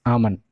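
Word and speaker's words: almond: कोई जरूरत नहीं है इसके तेल को पूरा साइलेंट कर दो ठीक है इस आमंद आमंद है और फिर आमंद आमंद एपिसोड एंड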